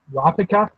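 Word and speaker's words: Kurapika: been that much in Karapika, because that's how the Madhouse English dub pronounces his name.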